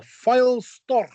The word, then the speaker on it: Pfeilstorch: But, uh, Matt, you're gonna have to help me out here with the with the pronunciation here because what is this thing called? It's the file sto.